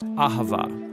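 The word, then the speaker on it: אהבה: languages as it is in ancient Hebrews it's pronounced Ahava it both basically refers to the kind of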